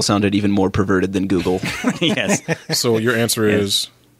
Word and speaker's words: Googol: It's spelled kind of funny. It's Googol, I think, if I'm not crazy, but it's Google.